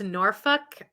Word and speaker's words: Norfolk: noral England not Virginia I believe it's pronounced noruk uh and the only reason